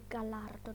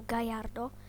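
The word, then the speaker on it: Gallardo: gardo SL i tak czyta się gardo nie Galardo tylko gajardo tak jak Lamborghini Huracan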